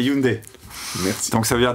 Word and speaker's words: Hyundai: serait-ce que les gens se posent la question de savoir si on prononce Hyundai ou Hyundai, ça veut dire déjà qu'ils connaissent la marque. Quelle est la réponse? C'est Hyundai.